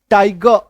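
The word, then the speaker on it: tiger: ध्यान रखना है कि यहाँ पे आर जो है वो सेमी साइलेंट है, तो पूरी तरीके से इसको उच्चारित नहीं करेंगे, ठीक है। टाइगर, पेपर, फिंगर, एक्चुअल उच्चारण, है ना, बट हम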